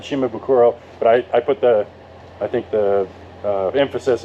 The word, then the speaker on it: Shimabukuro: No silence, no consonant, just the way it's spelled.